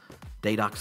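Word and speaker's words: Deidox: Daydox Films, and it's not spelled like day-dox, but it is spelled D-E-I-D-O-X.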